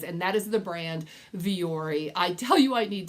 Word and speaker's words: Vuori: with this brand of Vuori?" And I said, "No, I wasn't." And it's not Vuori, guys. There is no J, but that is how my husband pronounces it.